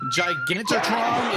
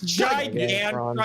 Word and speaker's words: Gigantron: The Gigantotron is still alive. Gigantotron. I feel like, or what is Gigantron? It's Gigantron. Okay, you added a syllable.